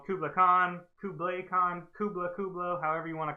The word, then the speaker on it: Kublai Khan: it's Kublai Khan, so you don't like pronounce it Kublai. like the Kubler elves.